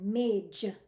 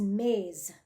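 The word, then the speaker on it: मेज़: this word maze as Mage with a J sound instead of a z like zebra both of them are accepted in conversational Hindi but the correct way is maze now here's the thing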